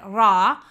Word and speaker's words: Ra: fatto l'esempio del Sole Ra che trovato da solo con il diacritico sappiamo che ha a che fare che cioè si legge Ra e significa però se